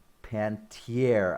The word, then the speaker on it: Panettiere: So Hayden Pantier, I believe, is how it is pronounced.